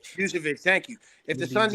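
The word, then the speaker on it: Vučević: Vucevic, thank you.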